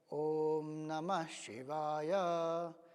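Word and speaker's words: ॐ नमः शिवाय: तो जैसे ओम नमः शिवाय जगह अगर हम कहें ओम नमः शिवाय, ये उसका प्रोनाउंसिएशन है। तो न स्वरित होगा, म ऊपर जाएगा, शी नीचे आएगा, व स्वरित होगा और य ऊपर जाएगा।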